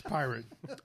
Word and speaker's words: Poirot: I usually spell it wrong, so It's pirate.